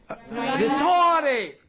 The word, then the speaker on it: rhetoric: Now letter H usually it is silent in the combination R H. at the beginning Of a word.